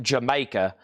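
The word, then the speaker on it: D'yer Mak'er: Bruno Mars Dire Maker from Led Zeppelin song is pronounced Jamaica. Jamaica pronounced uh Cognney British pun for the phrase did you make her?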